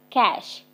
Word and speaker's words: cache: memory the catch memory the word catch is pronounced as the word cash c-a-s-h cash so cache memory sometimes